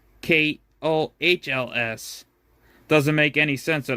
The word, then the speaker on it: Kohl's: Joshua in mysteriously now it's spelled K O H L S doesn't make any sense at all to be honest. If you pronounce it Kohl's, not co.